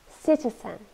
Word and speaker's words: citizen: or enthusiasm for something citizen and noun see tea son three syllables and we stress the first one citizen and it's a